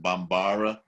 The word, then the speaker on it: Bambara: You know, there is a tribe that's closely associated with them called the Bambara, or some people pronounce it Bambara.